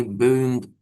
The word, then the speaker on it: boomed: Okay, not boomed, not boomed, boomed. Okay, the E is silent.